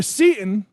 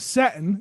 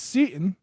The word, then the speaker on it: Seaton: time last episode um tyler seaton not satin it's seaton apologize to you apologize to